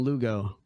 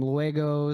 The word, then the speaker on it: Lugo: broken down okay but people kept mispronouncing it luego leggo I was like I